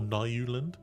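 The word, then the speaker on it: Nylund: But Ghost of Onyx is a really good Halo novel, and it's done by a guy called, I believe it's pronounced Eric Nyland or Nyuland, and really good, like, really good novel.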